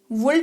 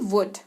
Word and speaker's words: would: WOULD, वुल्ड नहीं वुड, यानी कि चाहना, चाहेंगे समथिंग।